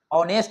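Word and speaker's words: honest: तो यहां पर एच तो लिखा हुआ है लेकिन एच साइलेंट होता है और इसका प्रोनाउंस जो होता है वह ऑनेस्ट होता है जो कि वोवेल साउंड देता है।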